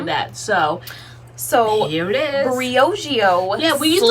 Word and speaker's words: Briogeo: We said Briogeo, but no, it's Briogeo.